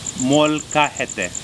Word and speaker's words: molcajete: So it's called a Mexican molcajete.